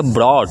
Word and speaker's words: brought: पढ़ते हैं, ध्यान दीजिएगा, GH आता है, उसको प्रोनाउंसिएशन में हम लोग पढ़ते हैं ओ, जैसे BROUGHT। देखिए यहाँ पर OU आपका आया है ना, OU आया है, तो इसको हम लोग पढ़ेंगे ब्रॉड, क्या, ब्रॉड।